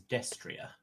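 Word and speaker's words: destrier: also a fun fact that type of horse is pronounced as destria yeah I was about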